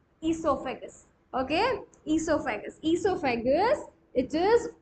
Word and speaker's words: esophagus: e in the esophagus o is silent pronunciation starts with e esophagus okay esophagus esophagus it